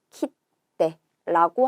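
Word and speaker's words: 切手: 여러분 이때 중요한 건 뭐냐면 루를 빼고 작은 쯔를 붙여서 키떼라고 하게 된다는 거예요.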